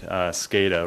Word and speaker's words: SCADA: through the stages of this project so you pronounce it right SCADA right supervisory control and data acquisition this big